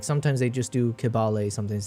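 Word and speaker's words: Kibale: They in Uganda I think they sometimes pronounce the K as a ch, but it's like it's intermingling. Like sometimes they just do kibbal, sometimes say Chabal.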